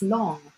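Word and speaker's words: 龙: the or the long the Chinese dragon pronounced long remember we are Birthday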